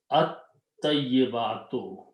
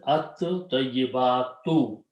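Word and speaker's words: الطَّيِّبَاتُ: The sound of ta will kill the sound of lam, but its sound will become twice. So it becomes at-tayyibatu. This will be pronounced as at-tayyibatu.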